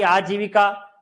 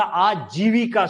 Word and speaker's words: आजीविका: अगला हमारी आजीविका, ऐसा बोलते हैं नहीं होता, आजीविका शब्द है।